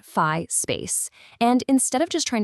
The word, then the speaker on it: Phi Space: It's called fi space. And that's pronounced fi space.